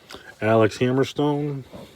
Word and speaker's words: Alex Hammerstone: Alex Hammerstone, that's how you say it.